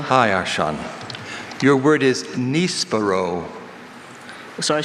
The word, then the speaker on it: nispero: Nispero. N-I-S-P-E-R-O. Nispero. That is correct. Yes! Great recovery. You could hear his first pronunciation.